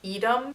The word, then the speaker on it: Edom: And they all get kidnapped and taken to Edom. Am I pronouncing it correctly? I think it's pronounced Edom.